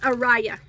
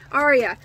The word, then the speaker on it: Arya: time I opened this, I call it Araya. Now, I asked Hobium if that was correct, and they said that it was incorrect, but that that it was okay the way that I said it. They did not care. It's actually called Arya off of, like, Game of Thrones.